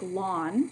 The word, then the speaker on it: ln: button that says ln which would be pronounced like this it's pronounced like lawn i think i briefly